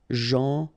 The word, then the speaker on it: gentil: So it's a strange one because here this final L is not pronounced. Okay? Gentil.